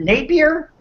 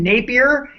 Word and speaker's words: Napier: Is it Napier? Yes. Is that how we say his name? Napier That's from the Sci-Fi Network show Helix.